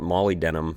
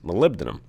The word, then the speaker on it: molybdenum: is hard to say I used to call it Molly denim but apparently that is not how you pronounce it it is molybdenum and it's a very